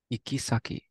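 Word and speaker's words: 行き先: Do you remember how this word is pronounced? Ikisaki.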